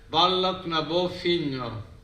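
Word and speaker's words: Bealach na Bó Finne: El nombre más general de la Vía Láctea en el folclore de Irlanda es Bailach na Bófine, que se pronuncia Bailach na Bófino, la vía de la vaca blanca, o Botar na Bófino, el camino de la vaca blanca.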